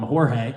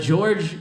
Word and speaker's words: George: You know, I'm the only one that pronounced his name right. Everybody else called him Jorge. I had this other coworker you guys would like. His name was Jesus. But George and I didn't have